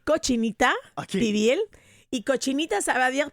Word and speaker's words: cochinita pibil: Le cochinata pibil, c'est quoi l'histoire derrière c là ? Bon mais c'est cochinita pibil et cochinita ça va